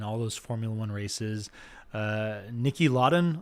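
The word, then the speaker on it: Niki Lauda: Nicky Lauda, I believe is how you say his last name, Nicky Lauda, but a very successful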